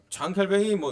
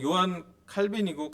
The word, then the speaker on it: 장 칼뱅: 칼뱅, 요한 녹스 이렇게 장 칼뱅이 요한 칼빈이고 칼뱅이라고 이제 왜냐하면 이분이 그 프랑스의 발음을 하기 때문에 그렇게 볼 수가 있는데요.